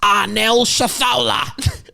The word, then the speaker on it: Anal Shitholer: Her name is pronounced Arnel Shathola. It's Arabian.